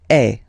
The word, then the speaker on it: es: Okay, and for tu, then you've got this combination of letters. Okay, but then basically the sound you will pronounce or you will produce is est. Okay, tu es.